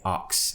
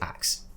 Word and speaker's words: axe: We'd never say ox, we say axe.